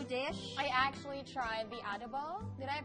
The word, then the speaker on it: adobo: I actually tried the adobo. Did I pronounce correctly?